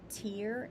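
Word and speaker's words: Tyr: wise tear wise was named after the god tear t-y-r this is spelled t-e-i-w-a-z this is when we are committed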